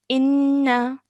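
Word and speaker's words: إنّ: Okay, so I would pronounce this as inna.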